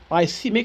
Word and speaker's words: ischemic: we call it h uh call it an ischemic stroke iic stroke that's how it's pronounced emic stroke um which is due to